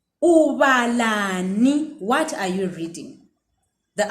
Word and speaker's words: ubalani: Ubalani. Ubalani.